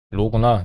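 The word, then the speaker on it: ρ: 이게 파이인가 로인가 피인가 헷갈렸어요. 영어로는 파이라고 읽는 게 지금 한국어 사전 보시면 P라고 읽게 돼 있어요. 아마 P가 그리스 발음이 아닌가 싶습니다. 근데 이거는 그게 아니고 P가 아니고 로예요. 로.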